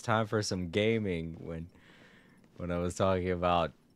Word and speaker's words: Gaming: I don't know why his son's name is Gaming. Yeah, that's how it's pronounced, but it does look like gaming, doesn't it?